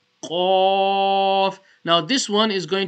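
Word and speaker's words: ق: famous Thalia letter o now off is going to be pronounced from the top of the throat yeah so Connie the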